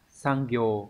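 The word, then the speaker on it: 産業: Sang ghiều có nghĩa là cái ngành công nghiệp, cái ngành nghề, cái ngành sản xuất.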